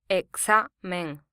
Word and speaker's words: Examen: This word ends in a vowel, so the syllable before last is stressed. The Spanish for exam is Examen.